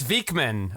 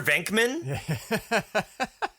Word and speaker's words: Vekeman: It's Vekeman of Vekeman's World. I'm sorry. Sir. Did you say Peter Venkman? Sir. Yeah. Sir. Yeah. Hard K. Vekeman.